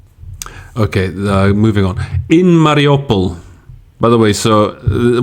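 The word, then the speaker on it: Mariupol: as we go along i think mariopol fortunately is the the pronunciation i think is the same in in both ukrainian and russian um this is something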